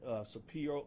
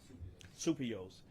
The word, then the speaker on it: Supios: Nick Supio, I'm sorry, I mispronounced your name. Supios.